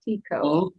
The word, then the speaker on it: Tixo: It's Tixo, but it's pronounced Tico.